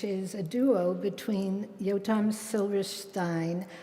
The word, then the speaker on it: Silberstein: I asked him how he pronounced his name. He told me any way I want. And then he told me, well, if we were in Germany, it would be Silberstein.